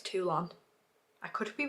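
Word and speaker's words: Toulon: say it it's definitely it's definitely not Tulum tulon everyone keeps saying that and I'm like no that's Tulum in Mexico I'm pretty sure it's tulon I could be wrong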